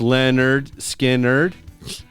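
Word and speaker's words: Lynyrd Skynyrd: oh my God uh the first skinnard album pronounced Leonard skard Goats Head Soup by the Stones uh Goodbye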